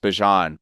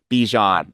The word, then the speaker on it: Bijan: He's like, it's actually pronounced Bijan, like Dijon, but Bijan. Don't try Bijan.